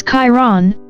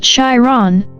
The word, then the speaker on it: Chiron: Sagittarius, this could be the most exciting thing you've stumbled into since you figured out how to pronounce Chiron, which for the record is Chiron, not Chiron, but we've all been there.